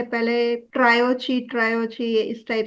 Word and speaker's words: tarot: टैरो नाम दिया गया जिसमें टी साइलेंट है ओके टी साइलेंट टेरेट की जगह हम या जनरली लोग टेरट टेरेट करते हैं बट इट्स नॉट टैट इट्स हां ये कहानी मुझे